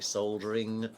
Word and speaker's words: soldering: Maybe it's like It's like Americans not pronouncing the L and it's soldering.